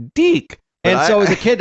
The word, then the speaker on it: DIC: So whenever the voice always pronounced Deek.